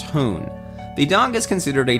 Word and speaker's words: houn: The name Stabbage translates roughly as Stand By Me, with the last part simply Frisian, meaning dog, which is pronounced hoon.